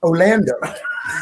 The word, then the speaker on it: Orlando: I said, in Orlando, they pronounce it Orlando. And so the whole week, she'll go, "Hello, Orlando."